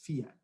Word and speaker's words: Fiat: call me leblanc nice fat you have over there he mispronounces the car's name remember it's fiat the woman turns to